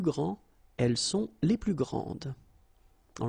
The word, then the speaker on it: grande: Okay, don't insist on the final but then pronounce this D, grande, and then exactly the same pronunciation, grande.